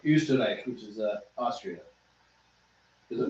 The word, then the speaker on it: Österreich: Like Österreich, which is Austria. Is it umlaut? Österreich is the German word Österreich, for is it Austria.